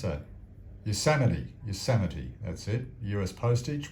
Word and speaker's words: Yosemite: Yosemite, how do you pronounce that? Yosemite, that's it.